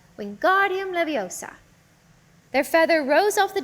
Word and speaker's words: Leviosa: Wingardium Leviosa, he shouted, waving his long arms like a windmill. You're saying it wrong, Harry heard Hermione snap. It's Wingardium Leviosa. Make the gar nice and long.